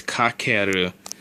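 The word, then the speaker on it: 掛ける: the most normal way that I've heard it pronounced is kakeru.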